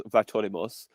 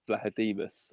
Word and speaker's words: Vlachodimos: So I first thought it was Vlachodimos. Then we had someone who could speak Greek message us saying actually it's Vlachodimos, I think, or something like that.